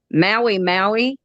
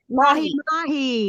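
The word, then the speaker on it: mahi-mahi: I'm going to pronounce the name wrong. I always do. And Greg had to correct me. It's Maui or something. Oh, it's a sandwich. Mahi mahi.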